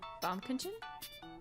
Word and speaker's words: Baumkuchen: Give me pronunciation, please. Oh, well, that was louder than I expected. Whoopsies. My bad. Baumkuchen? Baumkuchen.